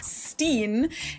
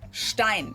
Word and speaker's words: Stein: There always seems to be a lot of confusion about whether it's pronounced Stein or Steen. And while everyone gets to decide for themselves how they want their last name pronounced, of course in German it would always be Stein or well Stein if it's Einstein.